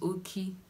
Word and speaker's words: Oki: My middle name is Oki, just a 3-lettered name. O-K-I, simply like that. It's very easy to pronounce. It's okay.